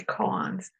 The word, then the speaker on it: koan: So, I'm pronouncing it in the Korean way. The Japanese way would be koans.